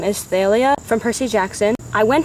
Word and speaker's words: Thalia: Her name is Thalia from Percy Jackson. I went to see Sea of Monsters and apparently it's pronounced Talia.